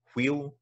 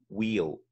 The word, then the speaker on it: wheel: a word like wheel, where the wh sound, the WH sound, is pronounced different for a plain W. So wheel versus wheel, if you can hear that difference.